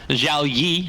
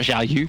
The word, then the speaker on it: Zhao Yi: Zhao Yi, as we've now been told, he's pronounced, not Zhao Yu.